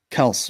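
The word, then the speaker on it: Kelce: Some people say the Kels, and it's pronounced Kels, right, Jarrod?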